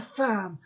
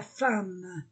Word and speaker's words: femme: voyelles la chaise la femme ce mot uniquement e se prononce a la femme la fille i l